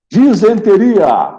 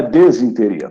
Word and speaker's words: disenteria: Disenteria, não é desinteria, tá?